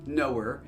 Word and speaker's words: Noer: So, the channel's name is pronounced Noer.